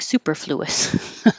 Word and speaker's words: superfluous: extra unnecessary stuff Superfluous even though it does look like it should sound like Superfluous that's how I remember how to spell it but it sounds like Superfluous he cleared off all